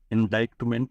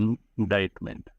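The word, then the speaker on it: indictment: तो आपको पता होगा कि इसमें जो सी है वो साइलेंट है। यह प्रोनाउंस नहीं होता है। तो ये इंडाइटमेंट नहीं बोला जाता। इसको बोला जाता है इनाडाइटमेंट। सी साइलेंट।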